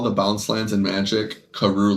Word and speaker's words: Karoo: Hey Siri, why do they call the bounce lands in Magic Karoo lands? It's Karu. I know they're spelled like that, and I know it's because of an interaction with some card.